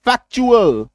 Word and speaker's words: factual: यानी कि क्या याद रखिएगा, T plus यूएएल is equals to च प्रोनाउंसिएशन होने जा रहा है। एग्जाम्पल देखिए, VIR टी, टी के बाद यूएल, वर्चुअल च, ठीक है। FACTUAL फैक्चुअल, टी के बाद यूएल।